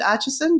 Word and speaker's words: Atchison: last name correctly, but is it Atchison, just as it's spelled? Yeah, that's right.